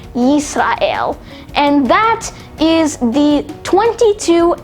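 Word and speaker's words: ישראל: And finally, we have Israel, which is pronounced as Yisrael.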